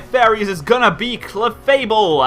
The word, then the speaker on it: Clefable: is going to be clefable and I said it right like in my Showdown session I was calling it cable which is it's not right apparently but yes we got ball